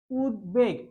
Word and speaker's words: উদ্বেগ: অর্থাৎ উৎ যুক্ত উপসর্গের সাথে উদ যুক্ত উপসর্গ উদযুক্ত উপসর্গের সাথে যদি ব ফলা যুক্ত হয় তাহলে ব এর উচ্চারণ ঠিকই থাকবে। যেমন উদ্বেগ।